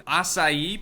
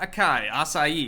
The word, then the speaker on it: açaí: trees place down in açaí palm not acai I'm pretty sure that's how you pronounce that all the white girls